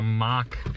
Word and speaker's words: Mach: technically an a but you can think of like mach as in like fake chocolate oh like a mock it's a mock y it's a fake y ah funny but spell it with an o instead of an a oh yeah all right